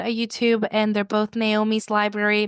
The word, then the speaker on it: Nahomy: Um, so my, I have a bookstagram and a YouTube and they're both Naomi's Library. My name is spelled I'm a little different. It's N A H O M Y, um, Naomi's Library.